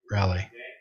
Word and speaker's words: Raleigh: How do you pronounce Raleigh?